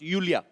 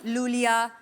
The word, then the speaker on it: Iulia: pronounce Yulia. Yulia. And the spellings are IULIA. LIA. So I Thank क्यों God मतलब? you know. I mean, why I? God. Everyone is calling me Lulia.